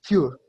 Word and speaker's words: Für: Ahí, por ejemplo, dijiste mal Nenenswertes y creo que pronunciaste mal Für. No es Fur, sino Für. Recuerda que está Für. con umlaut.